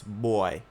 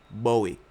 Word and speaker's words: Bowy: But like BOWY does not spell or pronounce boy in any way, shape, or form. It pronounce Bowie.